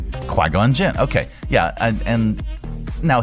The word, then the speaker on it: Qui-Gon Jinn: Qui-Gon Jinn. Qui-Gon Jinn.